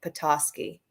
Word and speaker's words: Petoskey: see someone's telling me how to say it petoskey thank you thank you john petoskey i got